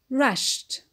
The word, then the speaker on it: rushed: Ed is pronounced d in rushed the Ed is pronounced to and in unlocked the